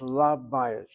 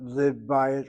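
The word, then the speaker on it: לַבַּיִת: So, it's la Bayit, not liv Bayit or something of that nature.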